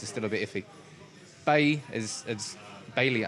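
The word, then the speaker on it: Bailly: Bailey, I hate calling him Bay, but apparently that's how you say his name.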